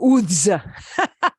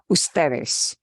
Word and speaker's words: ustedes: You'll see it abbreviated a lot, but we don't pronounce it ud or uds. It's still usted, ud period, ustedes, uds period. Okay, just so you know, it's abbreviated.